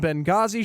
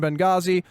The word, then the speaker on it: Benghazi: brought to you by the H is silent in Benghazi shirt which is the